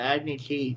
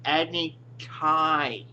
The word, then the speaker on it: Agni Kai: Um, the Agni Key thing. Dude, it's Agni Kai. Agni Kai.